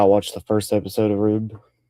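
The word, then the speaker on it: R/B: It's not RB, it's Rube. Apparently, that's how you're supposed to pronounce it.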